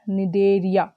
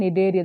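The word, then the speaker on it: Cnidaria: other name for cylindreta nidaria okay nedery the spelling was given wrong c n i d a r i a need area is silent here and here here also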